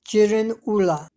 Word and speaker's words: Girin Ula: In the Manchu language, the name of this area is pronounced as Jirin Ula.